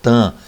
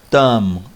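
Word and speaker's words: תם: Há quem pronuncie tam, como se fosse aquele avião, né? Aquela empresa de avião tam, mas a pronúncia aí é tam, tá?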